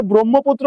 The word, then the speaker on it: ব্রহ্মপুত্র: ও হয়ে যাবে অর্থাৎ এই জায়গাতে ব্রহ্মপুত্র উচ্চারণে বয়রফলা ওকার হবে। ঠিক আছে?